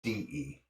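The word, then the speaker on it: 德: in the Western world you sit as te but it's actually de and it means virtue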